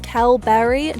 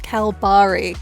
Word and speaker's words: Kalbarri: And quick side note, if you've been thinking I've been pronouncing Kalbarri totally wrong this entire time, you are absolutely right. So apparently it is Kalbarri, not Kalbarri.